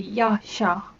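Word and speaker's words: ཤ: So as I mentioned earlier, the written Dzongkha would spell it as yak sha, and yak is quite similar to yak, but if you were to just pronounce it, it would be ya sha.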